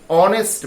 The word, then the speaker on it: honest: Everyone or everybody respects dash honest man, honest. The pronunciation is like honest, honest, not honest. H is silent and o is emphasized.